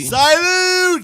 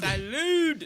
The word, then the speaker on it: salud: Salute! Salud. It's salud. How you say it? Did I say it right? Salute. No. Salud. Saluda? No. That's saluda like the river.